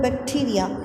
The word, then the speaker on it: bacteria: Then the next one, we are having bacteria. So again two syllabic word, and then we are having noun. It has been used as a noun. So like we have to put stress on the first one.